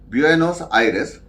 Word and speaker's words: Buenos Aires: This is a Spanish word, and this is how it's pronounced in Spanish, Buenos Aires, and Thailand in Bangkok, Dhaka in Bangladesh.